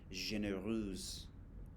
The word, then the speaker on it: généreuse: Cinq, généreux if it's masculine, généreuse if it's feminine, you pronounce the S at the end.